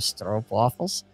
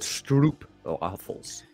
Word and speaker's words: stroopwafel: So when you and Jack talk, have you mentioned that you have stroopwafels?